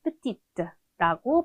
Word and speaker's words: petite: 작다, 작은의 의미의 형용사, petit, petit, 마지막 대 발음하지 않고 남성 기본형으로 발음을 하는데 마지막에 을을 붙이면서 여성형으로 만들어주면 petite라고 발음을 하게 되죠.